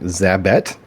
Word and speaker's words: Zabet: what is your name zabet how do you say that it's bet yeah zabet you look and you